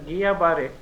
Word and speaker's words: Guillain-Barré: See, it is actually pronounced as Guillain-Barré Syndrome, and this is a neurological complication of some infections which have already been mentioned by my co-panelists, especially Campylobacter jejuni.